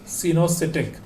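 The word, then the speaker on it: coenocytic: Multi nucleated को सिनोसिटिक cell भी कहा जाता है, ओ साइलेंट होगा यहाँ पर, सिनोसिटिक।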